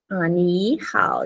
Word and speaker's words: 你好: Chúng ta khi mà có hai thanh ba liên tục đi cạnh nhau thì cái chữ đầu tiên nó sẽ đổi thành thanh hai, 对吧？chữ đầu tiên đổi thành thanh hai cô ha.